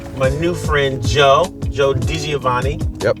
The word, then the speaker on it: DiGiovanni: Joe Dioani. Yep. Got it right. Not Deaggio.